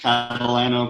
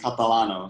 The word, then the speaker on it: Catalano: Yeah, so in English, Catalano, but Italian's Catalano. So you choose.